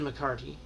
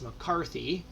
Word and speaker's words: McCarthy: bob nick lair han kevin mccarty i say his name wrong every time it's mccarthy doug jarvis tony tatney mark